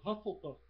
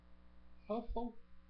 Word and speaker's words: Hufflepuff: Hufflepuff. Hufflepuff. A rima, em inglês, a sonoridade desse fonema em inglês soa parecido com ufa em português. E como fica meio fofinho, né? Hufflepuff, Lufa-Lufa.